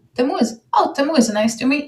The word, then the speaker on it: Tamuz: met, first of all, Dutch people, and I know that also from my own family, they cannot pronounce the letter Z. So my name, Tamuz, has become Tamuz. And since I moved to Holland, I was Tamuz for a while. And I really don't like that pronunciation of my name.